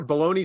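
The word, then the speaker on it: bologna: You know your baloney spelled B-O-L-O-G-N-A?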